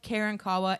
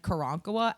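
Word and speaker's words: Karankawa: I have heard both Karen Kawa and Kurankoa as both correct pronunciations of that word because we don't know how to say it because those people aren't alive anymore.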